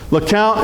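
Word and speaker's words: LeCompte: Lacount is still my favorite of the blues or purples. That's going to have the longest balloon chains. and Lount, that's pronounced like C O U N T because it comes from Lount, Louisiana.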